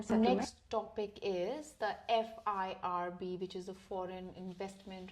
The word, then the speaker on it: FIRB: Next topic is the FIRB, which is the Foreign Investment Revenue Board.